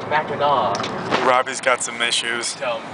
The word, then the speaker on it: Mackinac: No, it's not Mackinac. Fuckers. It's French. You don't pronounce the last C. It's Mackinac.